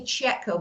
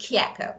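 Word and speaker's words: Chieco: in English we say Cheo but actually this name is an Italian name that should be pronounced keko so Cho is K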